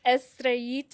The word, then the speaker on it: Estrellita: It's Estraita. Estraita, which is a little star. Yeah, that's exactly right. Little star. Yes, it's a Spanish word.